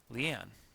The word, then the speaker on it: Leanne: For instance, the name Leanne includes the emphasis on the second syllable. We often say Leanne, not we say Leanne, not Leanne.